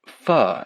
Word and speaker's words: pho: It's not faux like fake. It's pronounced pho, as in fucking incredible.